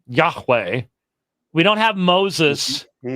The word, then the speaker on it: Yahweh: is will say, look, given the letters and given the relationship possibly to the verb that means to be, haya, in all probability, the pronunciation would have been Yahweh.